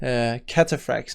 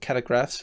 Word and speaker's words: cataphract: and the Imperial cataphract I've been saying it wrong the whole time cataphracts not carry grass but cal frags are